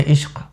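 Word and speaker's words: इश्क़: वो जो इश्क कहती है ना, एकदम सटीक, ऐसा लगता है कि यही उच्चारण होना चाहिए, यही साउंड होना चाहिए, इससे ना ज़्यादा ना कम, है कि नहीं। तो इश्क के क में नुक्ता है, अश्क के क में नुक्ता नहीं है।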